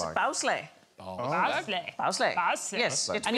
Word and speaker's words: bagslag: What, bagslag? No, it's bowsleigh.